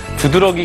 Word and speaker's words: 두드러기: 붓다 처럼 쓰이는 것이죠 2 둘의 기로 잘못 발음하는 것은 뒤에 이 모음의 영향을 받아서 앞에 러가 외로 발음되는 이몸 역행 동화 때문입니다 하지만 표준어 규정 체 그 왕은 이 몸 역행 동화가 일어 나지 아니한 형태를 표준어로 삼는다 고 정해놓고 있습니다 따라서 2 들에 기가 아니라 두드러기가 다른 말인 것이죠 자